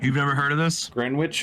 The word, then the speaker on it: Greenwich: never heard of this greenwitch or is it green witch or grenwich Gren witch and U it's uh Greenwich right I think that's pronounced grenic yeah it's a Manhattan